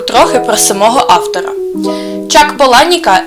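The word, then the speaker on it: Palahniuk: і оселився в нью-йорку сам автор каже що його прізвище слід вимовляти як Поланік хоча й Не заперечує що оригіналом є Полагнюк сам Чак Україну досі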